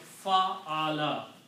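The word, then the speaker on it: فَعَلَ: And if I just take these three letters and combine and put one fataha on each of them, it will be sounding like fa'ala.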